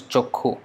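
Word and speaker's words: চক্ষু: So they will write as chakshu, but they pronounce as chokhu, and they will write as kshatriya.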